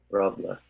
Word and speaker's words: Roble: All right, so if people want to pronounce his name correctly, it's either Rob or. Roble. There you go, there's a Somali pronunciation.